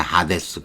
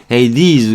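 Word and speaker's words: Hades: 이거 헤이디즈 발음을 이렇게 또 외우는 수밖에 없는데 우리가 그대로 라틴어 그대로 하면 하데스잖아요. 하데스 그대로 편하게 읽으면 그리스 말인 거예요. 하데스 영어는 지저분해진 거예요. 영어는 또 지저분해요. 이거를 왜 헤이디즈로 발음을 합니까? 하데스 딱 좋은데 우리는 그냥 이런 거 할 때는 그런 거예요. 하데스 이해는 그렇게 하고요. 굳이 영어로 발음하려면 hey these 그러는 거예요.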